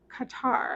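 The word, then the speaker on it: catarrh: Qatar and I had to look that up because I did not know how to say it is C A T A R R H. Um but it is Qatar I believe.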